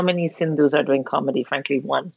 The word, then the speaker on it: Sindhu: one so just put cindu comedy and I'll show off n d h u v s n d hu rhymes with Hindu in case you ever get confused was it was it Cindi no it's not Hindi